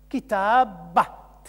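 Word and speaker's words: كتابة: a plusieurs d'ailleurs ici, obligatoirement un T fermé final, marque du féminin, qui se prononce at.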